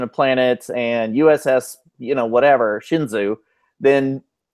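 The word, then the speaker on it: Shenzhou: It's the USS Shih Tzu? Shinzu. No, not like the dog.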